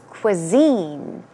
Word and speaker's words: cuisine: Just to make sure you got the correct pronunciation. It is cuisine.